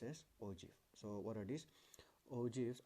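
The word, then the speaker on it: ogive: and it is known as ogf it is pronounced as orji so what are these ogfs are curves obtained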